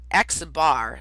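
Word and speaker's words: x̄: obvious if i say x bar see that x with a line above it that's pronounced x bar and you'll see i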